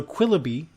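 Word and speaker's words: Quilloughby: Let's hear about it, and I'm assuming it's pronounced Quillaby. You are correct. Okay. Yeah. So Quillaby is Lisa's brand new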